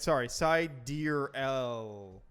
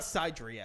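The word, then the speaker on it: Sideræl: is pronounced Sidereal. Ugh. It says phonetically, it's Psi, deer, EE-EL. That's stupid. But So anyway, it's not Sidriel.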